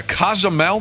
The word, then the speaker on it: Cozumel: You get on that boat, you go from Miami to Cozumel, that's how you say it, in January, and there'll be live wrestling matches.